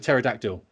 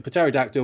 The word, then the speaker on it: pterodactyl: does he say yeah a massive pterodactyl a pateradactyl whatever not a silent p sucked it down the